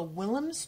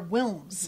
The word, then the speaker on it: Wilms: And this girl has cancer, but it's called a Willems tumor. Mm-hmm. And, or Wilms. Mm-hmm. Aw, she's so cute. She said it wrong the first time.